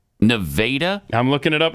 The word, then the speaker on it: Nevada: if Pat was asking about the town Nevada in Missouri he'd get funny looks it's nadaa I'm looking it up